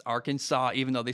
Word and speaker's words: Arkansas: m at number 16 arkansas not arkansas arkansas even though they spell